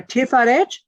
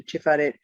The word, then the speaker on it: Tiferet: So Tiferet, T-I-P-H-A-R-E-T-H, bearing in mind that there are no vowels. But the original letter that looks like a T is not tet, T-E-T-H. It is tov, T-A-U.